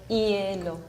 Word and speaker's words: hielo: So we don't pronunciate that, has no sound. So hielo. But if you pronounce fast that word, it sounds like yellow.